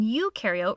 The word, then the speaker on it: eukaryote: And to help me remember some more differences in this next part, I like to remember that pro in prokaryote rhymes with no, and eu in eukaryote rhymes with do.